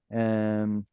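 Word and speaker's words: אַמָּתַיִם: All of these have penultimate stress. Amatayim.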